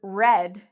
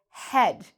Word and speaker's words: red: Sometimes when I hear Brazilians talk about things and they are using an R word, they pronounce the R like an H in English. So for example, I've heard Brazilians say, when they're trying to say the word red, I've heard them say head.